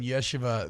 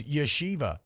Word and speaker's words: yeshiva: I've been saying yeshiva this whole time and good good as Goldberg in the chat says yeshiva is how it's pronounced and I'm going to say I'm going to trust good as Goldberg.